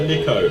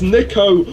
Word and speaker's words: Niko: It's Nico, not Nico.